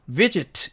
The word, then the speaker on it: visit: visit 마찬가지 위에 액센트가 있죠. 그래서 바로 그 뒤에 나오는 이 자음은 떼지 않고요. 서로 떼지 않고 다음 모음 앞에서 이렇게 떼버립니다. 그래서 visit 이렇게 발음이 되는 거죠.